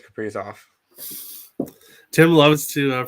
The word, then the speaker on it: Kaprizov: I know it's Kaprizov. Tim loves to pronounce the players' names incorrectly, but no, I like to announce the Wild players' names incorrectly.